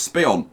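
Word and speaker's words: Speonk: And Spion, which apparently is Spion, not Spionk. The K is silent apparently, so Spion, and West Hampton.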